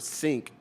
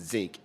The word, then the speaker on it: sink: she didn't realize that the word sink was not pronounced like zinc. She said everyone in her family pronounced it zinc, and it wasn't until